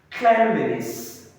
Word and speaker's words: cleanliness: Next, cleanliness, cleanliness. It is often mispronounced as cleanliness. As a verb, you have clean, but immediately the suffix liness is added to it, it will change to cleanliness.